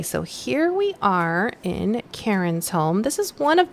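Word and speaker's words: Charen: and the info about her says Karen but it's spelled c-h-a-r-e-n pronounced Karen Kearns is a newly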